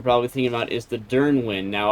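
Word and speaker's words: Dyrnwyn: thinking about is the Dernwin. Now, I've I've struggled to find a way to pronounce it. I think Dernwin is how to pronounce it.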